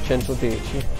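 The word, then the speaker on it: Centodieci: out of italy and that's why we pronounced the name 110 in italian and so it's called chanto deichi so when you guys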